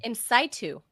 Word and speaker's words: in situ: and they eat them in situ. And that's awesome. Incaitu is what the doctors told me it's pronounced.